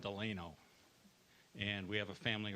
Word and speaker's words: Delano: But the 2 main pronunciations are Delano and Delano.